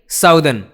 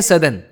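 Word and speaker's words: southern: साउथ यानी साउथर्न उधर ही गलत। उसको बोलेंगे सदर्न।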